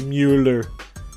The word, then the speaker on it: Mueller: and as I said, every time I say his name, I go, Mueller, like Ferris Bueller.